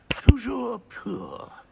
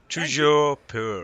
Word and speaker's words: Toujours pur: Toujours pur. Ha! Toujours pur.